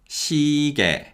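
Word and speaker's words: 시계: on your wrist and the y glide in the second syllable weakens so this word is pronounced shige okay so let's now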